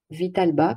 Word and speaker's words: Vitalba: voyez tout donc le site cevital bas donc vital bas comme ça se prononce point fr et donc vous allez voir